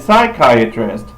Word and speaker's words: psychiatrist: up for you and psychiatrist psychiatric spelled a little differently you see in Spanish they just spell it like it sounds nope English we got to put in a silent P cuz we are English